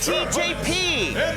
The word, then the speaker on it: TJP: yeah it says digital tjp why the new japanese oh is you just pronounce each letter oh come on you've